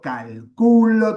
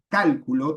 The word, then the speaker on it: calculo: Por las reglas de acentuación latinas, tendríamos que decir yo cálculo, tú cálculas. Pero el español ha fijado la sílaba tónica de las conjugaciones. Son siempre las mismas, independientemente de la raíz de la palabra.